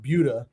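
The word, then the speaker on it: Buda: about Buddha why do you love living in Buddha instead of in Austin well first of all it's pronounced budha and second it reminds me a lot of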